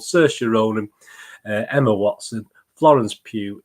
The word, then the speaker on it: Saoirse: I didn't have a clue, so it's Saoirse. Rhymes with inertia, I've been told. Saoirse Ronan, Emma Watson, Florence